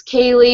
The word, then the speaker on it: K. Lee: 3 times a day, my name's Kaylee. It's spelled K.Lee.